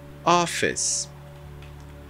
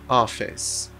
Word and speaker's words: office: mais gente precisa ouvir palavras terminadas em e na língua inglesa você não pronuncia a letra E isso eu tô falando